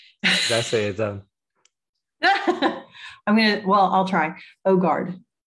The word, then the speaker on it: Øgaard: Øgaard. It's good in English. It's not correct, but it's good.